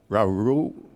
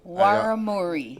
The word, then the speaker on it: Warramuri: In this case, it's Warumi. Sorry. Warramuri. Warramuri, right.